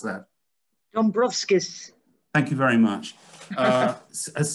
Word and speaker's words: Dombrovskis: How do you pronounce that? Dombrovskis.